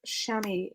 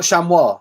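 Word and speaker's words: chamois: no you're a wizard bloodnut blood nut it's pronounced Shamy leather Shamy leather Shamy so it's not Shamir it's pronounced shami I thought way pronounced it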